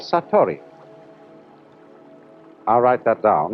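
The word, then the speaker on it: satori: is in Japanese in Zen it is called sator I'll write that down it's an unfamiliar word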